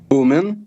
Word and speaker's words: Bumin: I have, and I may botch the pronunciation of these names, so I'll do the best I can. Is it Bumin? Bumin.